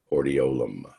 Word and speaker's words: hordeolum: Another one of your test items is this word right here, pronounced hordeolum.